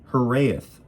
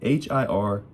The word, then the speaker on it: hiraeth: It's Hiraeth, I think is how you say it. Hiraeth, Hiraeth.